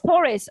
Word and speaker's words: Taurus: don't know um i don't know how to pronounce it when is your birthday um torosa t-a-u-r-u-s oh torres okay so you're taurus yeah okay cool cool